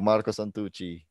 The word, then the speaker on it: Marco Santucci: for joining the show marco santucci thanks to you thanks to you and thanks to you for for say my name in a good way in a good way yeah you say it right i've uh well